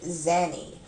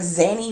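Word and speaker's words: Zanny: up and i like zany rhymes with nanny you understand how stupid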